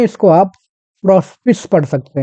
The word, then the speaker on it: Prospice: बहुत ही famous point प्रोस्पिस। चलिए Italian शब्द है अपने आप में और अगर इटालियन के हिसाब से इसका अगर प्रोनाउंसिएशन किया जाए तो इसको प्रोस्पिकी भी पढ़ा जाता है।